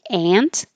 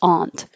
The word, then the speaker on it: aunt: didn't get to these some people say this word exactly the same as this word so some say ant like 16 ant and some say Aunt so both are correct it just is more